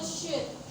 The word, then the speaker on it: should: Next, we move to should. Should itu pronounce-nya S-U-D ya. L-nya ditelan.